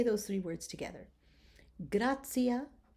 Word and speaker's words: gratia: Okay, so now when you have a T and it's followed by an I and either an A or an O, then you're going to pronounce it as ts, ts, as in the words gratia or pontio or annunciamus. Do you hear that I'm giving it the ts sound?